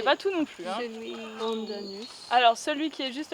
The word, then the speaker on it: pandanus: Donc là, c'est le pandanus. C'est ça que vous avez. Oui. Pandanus, c'est Je l'ai dit. Comment ça s'écrit?